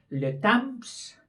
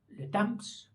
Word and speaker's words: le temps: Le temps, el tiempo, le temps, que se escribe con él, le temps. Dice que había que hacer la nasal, le temps.